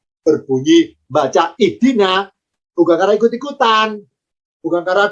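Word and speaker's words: اهدنا: Kenapa kita terbiasa bacanya ihdina? Kok tidak ahdina? Kok tidak uhdina? Ya karena huruf ketiganya kasroh. Karena dalnya kasroh, alifnya ikut kasroh. Maka kalau diharokati, alifnya, harokatnya kasroh, berbunyi ihdi.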